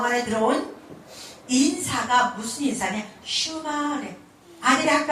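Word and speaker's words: שמע: 그래서 원 언어는 일본에서 나온 그 히브리식 발음이 쉐마고, 원래 이스라엘 발음이 슈마인데 이게 무슨 얘기냐?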